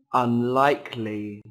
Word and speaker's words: unlikely: Unlikely. Unlikely. Unlikely. Từ này có 3 âm tiết, trọng âm rơi vào âm tiết thứ hai các bạn nhé.